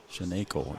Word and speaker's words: Shenanko: Shenanko is what I was told to pronounce.